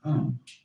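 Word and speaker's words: Aum: sound is used because if you spell it out a u m it runs from the back of your throat to your lips and therefore it contains the whole range of the voice and for that reason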